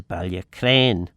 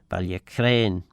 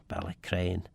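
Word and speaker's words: Ballacraine: of the of the course we get to Balia Crane Balia Crane. Um so Balac Crane Balia Crane and yes I think I think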